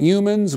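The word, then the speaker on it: Youmans: Broadway's famous figures Vincent humans we know it's pronounced that way because once Cole Porter Porter rhymed humans with humans um Rudolph fmel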